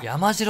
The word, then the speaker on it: 山城: 山城があるぜ山城って読むんですねあれただここも